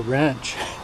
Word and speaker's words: wrench: For my old uh egg navy friends, this is a wrench and the W is silent. So, it's like well wrench and it's lefty loosey and righty tighty.